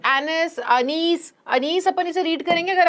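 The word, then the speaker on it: Anees: ठीक है, सो एनिस अनीस अपन इसे रीड करेंगे। अगर अपन इसको इंडियन नेम है, ये वैसे इंडियन राइटर है इनका, अगर हम सही प्रोनाउंसिएशन करें तो अनीस होगा।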